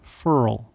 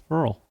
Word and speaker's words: Farrell: He prefers Cleland Furl these days, and I know how you are about pronunciations. It's Furl.